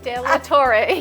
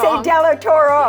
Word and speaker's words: De La Torre: De La Torre, yes. Thank you. She says I always say De La Toro.